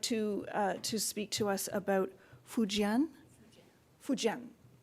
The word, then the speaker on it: Fujian: But Fujian, it is exactly how it's pronounced.